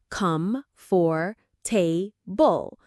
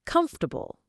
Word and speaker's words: comfortable: Most learners try to say every single letter. Come, for, bull. But in real speech, we usually say it like comfortable. That's because English pronunciation doesn't always match the spelling.